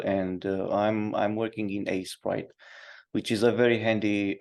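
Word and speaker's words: Aseprite: to have can you say the name again a Sprite a Sprite yeah how do you spell that so it's a s e p r i t e a Sprite okay um so yeah and um for normal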